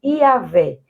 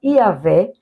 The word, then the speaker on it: Yahvé: Na Bíblia, em português, mas no hebraico seria pronunciado algo como Yahvé, e é construído sobre a palavra que significa eu sou. Assim, toda vez que ouvimos a palavra Yahvé, ou a forma curta